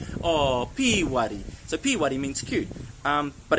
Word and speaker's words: Pīwari: And that word is Pīwari. Okay, Pīwari, it's actually got a macron on the first I. Okay, so we're looking for a long I sound.